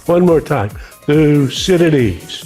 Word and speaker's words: Thucydides: Now I know his uh name is a mouthful and some people have trouble pronouncing it. So let's do it one two three together. Thusidities. One more time. Thusidities. Thusidities.